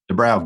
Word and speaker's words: Doobrow: Todd Doobrow. Did I pronounce that correct? Yes, sir. Doobrow, good.